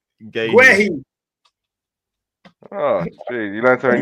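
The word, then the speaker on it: Guéhi: Mark Guhai. You need to stop savaging people's name. How do you pronounce his name? Guehi.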